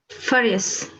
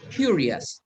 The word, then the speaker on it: furious: okay curious which one furious furious few years remember that all this ending is pronounced us for example the same as jealous okay jealous what other